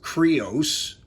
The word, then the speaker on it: Crius: again blade blaster cries cannon crius is actually pronounced creos um uh well actually no cries means creos